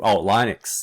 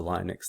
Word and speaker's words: Linux: one other thing anyway so getting back to this linus they just linux yeah you could say linus in english is what we would say so linux there's that's you know that's an okay argument but i'm just gonna say through usage just like jiff back when i first learned about gifs they were